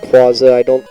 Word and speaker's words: Rayquaza: Yes, I call it Rayquaza. It's pronounced many ways in my area of Pokemon, but anyways, how that was so overpowered.